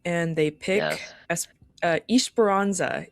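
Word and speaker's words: Esperança: they pick ES uh espironza is technically how you say it. Espiranza. Yeah. Out of the the 80 different pronunciations I've heard. I mean that one. Ish Barona. I think that one's definitely the normal one. I've definitely heard like Espirona and like I don't know.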